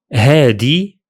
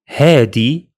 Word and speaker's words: هادي: In the Levant dialects, that ذال sound changes to d, giving us هذا, هادي, and هدول.